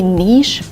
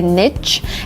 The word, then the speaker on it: niche: word is Niche and I say Niche but really it's better to say Niche and Niche is more conservative more academic and this is the better way to pronounce a word that refers to a special role or place Niche instead of Niche it's not more correct or better to say Niche we have two pronunciations and they are the same some people say nich